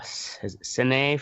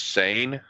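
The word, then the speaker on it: Seine: long ago in uh cine france s-e-i-n-e um this was in the 16th of may 1770. the same how was it pronounced i do believe it's sane fame touted as the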